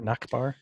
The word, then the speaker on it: Nachbar: Is that how you pronounce that? Yeah, I would knock. Yeah, NACHBAR, Nakbar.